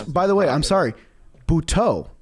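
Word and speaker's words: Butto: Bhau, not Joseé Buto. Bhau. That's new. Yeah. Yep. That's new. We We have to give him that respect of pronouncing his name properly.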